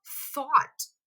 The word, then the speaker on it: thought: A segunda, eu coloquei o T no final, então fica thought.